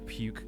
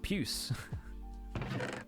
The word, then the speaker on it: puce: It's the puke copper. It's pronounced puce.